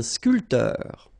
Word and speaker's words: sculpteur: not that difficult, un sculpteur, un sportif, un peintre, un photographe, un journaliste. All right, so un barman, un sculpteur. Same thing here. This P here is not pronounced.